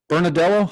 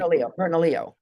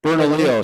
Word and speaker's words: Bernalillo: Oh yeah, and I have some honey from is it Bernardello? How do you pronounce the county? Bernalillo. Bernalillo.